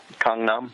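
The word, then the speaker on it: Gangnam: we'll say it again uh Kong Nom it's kind of like somewhere between a g and a k k Kong Nom it's that's interesting we've been saying it wrong over here for however long then so yeah yeah the the romanization of a lot of Korean words leaves something to be desired because when you read it phonetically it doesn't you know it doesn't sound like what it should sound like in Korean so but yeah Kum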